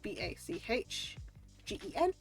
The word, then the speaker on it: bachgen: So the ch, so instead of like, so it's spelled like BACHGEN.